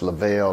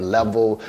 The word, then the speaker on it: Levelle: days of school because my teacher couldn't pronounce lavelle lo molten for some reason like it seems like it's an easy name to pronounce now but they told my name up level levar morton motown like they